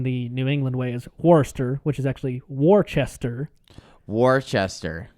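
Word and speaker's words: Worcester: He's like, "He lives in um let's say pronounced in the New England way is Warester, which is actually Warchester."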